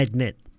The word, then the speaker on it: admit: 좋은데 D 발음 중간에 D 발음 안 하기. I admit. I admit.